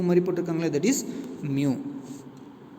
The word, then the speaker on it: mu: If you consider a gas which contains mu moles of the gas, so U மாதிரி போட்டிருக்காங்களே, that is mu. M mu அப்படி pronounce பண்ணணும்.